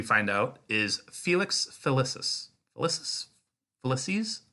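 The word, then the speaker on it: Felicis: out is Felix ficus ficus felices I feel like they pronounce it felices yeah but I'm reading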